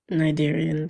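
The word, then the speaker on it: cnidarians: cadarian 500 it remember remember that c is silent Nigerians there you go for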